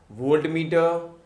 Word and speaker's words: voltmeter: इफ we talk about the वोल्टमीटर, कहीं कहीं पे वोल्टामीटर भी लिखा रहता है, someone used to pronounce the वोल्टामीटर, but exactly the pronunciation is वोल्टमीटर.